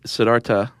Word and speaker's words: Siddhartha: name was Siddhartha guatama did you know that actually Siddhartha okay so the H is silent uh galtama nice yes